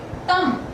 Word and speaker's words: thumb: So the B sound over here is again silent, and this word is pronounced as what? Okay, yeah. So the pronunciation goes in this way. Thumb. Okay, thumb. So in all the three words that we have discussed lately, the B sound is silent.